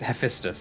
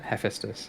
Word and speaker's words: Hephaestus: we'd get in trouble it's sephistus isn't it hephaestus is how we pronounce this yeah yeah while hephistus's